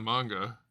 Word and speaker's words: manga: You know what's funny is people say manga, which is basically how you pronounce it in Japanese. I don't hear anybody say anime in the Japanese way. It's always anime, not anime, which is interesting.